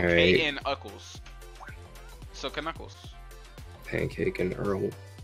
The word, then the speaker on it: Knuckles: K-N Uckles.